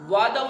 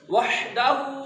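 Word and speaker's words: وحده: لا الہ الا اللہ، وحدہ لا شریک لہ، جو ہے اس کو بھی اس کے مخرج سے نکالنے کی کوشش کرنی ہے۔ وعدہ لفظ نہیں ہے، وعدہ غلط ہے، وحدہ لا شریک لہ، آگے پھر وہی ریپیٹ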